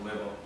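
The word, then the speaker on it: Weber: 발음할 때 뭐라고 발음하면 되게요? 외라고 발음하면 됩니다. 외버 자기장 단위도 그러면 궁금하셔야 되겠죠.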